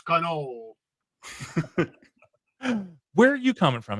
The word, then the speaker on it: cannoli: You're not supposed to pronounce the I. It's cannoli.